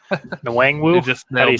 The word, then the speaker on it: Nwangwu: Nwangwu?